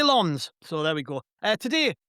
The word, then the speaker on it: Lens: How do you say that name out loud? And he said, say Lens.